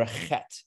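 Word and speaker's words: חית: my favorite letters because you get to clear your throat every time you say it that okay um not one of the easier letters to pronounce but it is what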